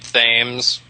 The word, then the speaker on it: Thames: I've known somebody with the last name Thames that pronounced it Thames.